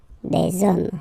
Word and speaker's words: hommes: homme, and after that you just put the s at the end. You don't pronounce it, so you get des hommes, okay?